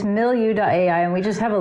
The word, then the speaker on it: Millu: So the name of the project is Millu, and it's spelled Millu. Millu. Okay. Yeah, but it's not like milieu. But it is actually, it's from that word. Okay. So it's like the French word milieu.